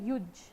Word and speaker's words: युज: समझ आता है बट अपना इंडियन जो वर्ड्स है उनको गलत प्रोनाउंस ना करें संस्कृत वर्ड है युजज ठीक है युज वहां से ये आया युज